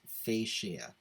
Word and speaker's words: fascia: this word online later on and it's actually pronounced fascia i know weird right you know some words